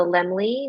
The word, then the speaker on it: Laemmle: And the film, as I mentioned, is at the Lemley NoHo. So Lemley is spelled LAEMMLE in North Hollywood, NoHo.